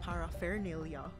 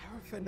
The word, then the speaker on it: paraphernalia: n a l i well you should have pronounce that paraphernalia because that's how you spell it paraphernalia what does that even mean miscellaneous articles especially